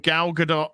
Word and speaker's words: Gal Gadot: bucks look up the video 73 questions with gal gadot vogue where gal gadot says on 12 26 her name is indeed pronounced gal gadot okay uh bmp studios where